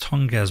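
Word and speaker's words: Tonges: tongz I tongz i' I've heard pronounced tongz by a lot of the content creators from California must be must be tongz then it struck me as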